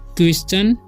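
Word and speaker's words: question: का जो उच्चारण है टी का जो है इसका उच्चारण च हो जाता है ठीक है तो ये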